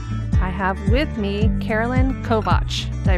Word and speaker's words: Kovacs: I am your host Karen Callahan and today I have with me Carolyn Kovatch. Did I pronounce that right? You did. Okay. Kovatch as in watch from the UFAS extension, Crant and everything else in between.